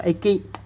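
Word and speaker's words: 駅: Chữ R nữa là chữ xích, nó dịch nó đọc là Eki.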